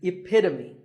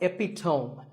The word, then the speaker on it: epitome: example of something and the perfect pronunciation of that is epitome it's not epitome once again the epitome